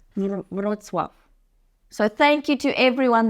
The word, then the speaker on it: Wrocław: Just on that note, by the way, in the previous video, he pronounced Wrocław. He said Wrocław. And it's Wrocław. Wrocław.